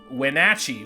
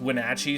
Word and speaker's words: Wenatchee: abandoned town of Wenatchee, which I've been pronouncing it Wenatchee the whole time, and I was literally just informed by someone who lives near there, literally last night, that it's pronounced Wenatchee, so my bad.